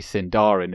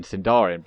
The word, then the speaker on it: Sindarin: like on the in and then equally actually sindarin is another there's another thing like on that